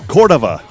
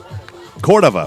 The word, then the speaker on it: Cordova: Transit van man and the pronunciation is Cordova Cordova we got it from